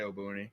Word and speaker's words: Obuni: is it obuni obuni how do we pronounce it so i don't botch this just say oh booney apparently apparently in the in the in the dragon ball dub they say albany but that's not the